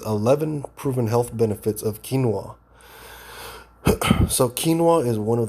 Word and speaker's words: quinoa: that is grown for its edible seeds it's pronounced quinoa quinoa it technically isn't a cereal grain but a